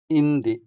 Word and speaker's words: indi: eelis eelis eelis The next word here, "no" or "not", translates into indi indi indi The stress also falls on the first syllable, making the first e longer than the second one.